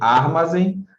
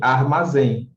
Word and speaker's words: armazém: Porque a sílaba mais forte é a primeira, contando de trás para frente, né? Não é nem armazém, nem armazém, é sim armazém.